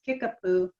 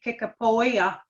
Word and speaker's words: Kickapoo: side of the family he's kickapoo or the correct pronunciation would be kickapoya my people my tribe